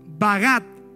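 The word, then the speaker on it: בגד: En el hebreo la palabra desleal se escribe bagat.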